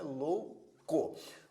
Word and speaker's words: louco: palavra louco Observe que a palavra louco é dividida assim em termos de sílaba duas sílabas né louco Observe que nesta palavra existe um ditongo por tanto a vogal o quanto a semivogal u estão na mesma sílaba por isso é um ditongo da mesma forma se